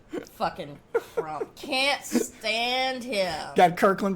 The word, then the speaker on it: Crump: Rhymes with Trump. What's his name? Crump. Fucking Crump.